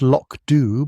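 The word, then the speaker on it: Lochdubh: Police constable Hamish McBth stood at the door of his Croft House police station in Lochdu, pronounced lockd by those who knew better and watched the gray curtain descend across the village with a certain satisfaction.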